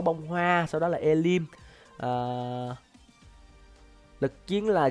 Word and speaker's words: ellim: series chơi con ngạc Elim này. Ui giời, E-L-L-I-M thì đọc là Elim đi.